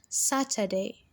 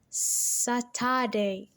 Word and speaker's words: Saturday: stress together saturday saturday saturday is a three-syllable word and the sat is stressed saturday now imagine if you stress they are how would we or how will it sound satire day saturday does that make